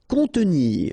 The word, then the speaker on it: contenir: Contenir. Okay, so here we've got this O and N together, so nasal, on, and then E. Contenir.